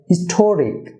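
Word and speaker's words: historic: Dear viewer, হিস্টোরিক, হিস্টোরিক, এখানে টিতে stress হবে হিস্টোরিক।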